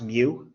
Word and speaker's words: mu: the mean people use this greek letter it's pronounced mu that's what people use for the mean this